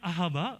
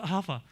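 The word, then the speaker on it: אהבה: Yang dibacanya Ahaba atau Ahava.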